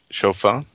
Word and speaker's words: shofar: He was saying shalom to the man playing the shofar. Is that how you say it? Shofar? My hearing aids, maybe, I think. Yeah, shofar. Shofar, right. Oh, my goodness.